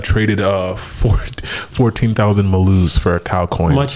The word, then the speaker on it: Malo: coin Bas and search m a l o Accent on the second o Mal Mal Mal how